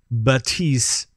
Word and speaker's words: Baptiste: Well, with that, I think we should maybe move it along, because there's, Baptiste, apparently. Apparently that's how you're supposed to pronounce it.